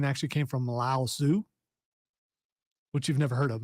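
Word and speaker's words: Laozi: to li lousy lousy it's lao zoo man it's two oh it's the same person it's just a different different way of pronouncing it yeah i believe it's it's lao and then tz yeah yeah so there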